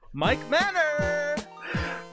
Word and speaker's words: Mike Manor: to our Channel today we have with us Mike Manor what's up y'all thank you for having me